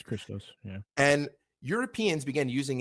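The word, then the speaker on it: Χριστός: Yeah, it's Christos.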